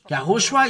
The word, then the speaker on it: Yahushua: from the the Jew yahushua is his name and this is the way to pronounce this but the Jesus wor